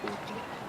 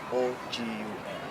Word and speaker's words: Ogun: to the meaning of Ogun. Mm. O-G-U-N. Mm. That's different meaning and different pronunciation, but the same spelling. The first one is Ogun.